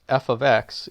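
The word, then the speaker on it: f(x): notation is basically where you use this notation pronounced f of x instead of y so think of an algebra one type equation y equals five x plus two we would call that f of x equals five x plus 2 or a function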